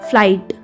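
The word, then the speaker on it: flight: Next है आपका फ्लाई, FLI, फ्लाई और GH इसमें साइलेंट, साइलेंट मतलब होता है जिसको बोलना नहीं होता, ट, फ्लाइट।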